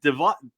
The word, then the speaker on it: Davieau: I know it's like Davieau. Davieau. It's Davieau. just Davieau. It's Davieau, but we pronounce it here, and we've been pronouncing it Davieau for 2 generations, anyways. It's Davieau since they came from Canada. They pronounce it Davieau.